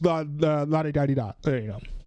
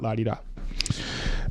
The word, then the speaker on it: la-di-da-di-da: You're not ready for the backlash, la-di-da-di-da, et cetera, et cetera. That's the proper way to say it, not la-di-da.